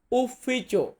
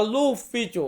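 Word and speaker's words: ufficio: তারপর আছে অফিস অফিস এটাকে আমরা ইতালিয়ান ভাষাতে বলবো উফিচো উফিচো ইতালিয়ান ওয়ার্ড এটার বাংলা হচ্ছে অফিস বা লুফিচো অনেকে অনেক সময় এমনটা উচ্চারণ করে লুফিচো থেকে লোটা বাদ দিলেই উফিচো থাকে উফিচো মানে অফিস লুফিচো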